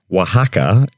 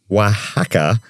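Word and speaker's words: Oaxaca: event held on the 23rd of December in Wajaka in Mexico dedicated to the carving of oversized radishes.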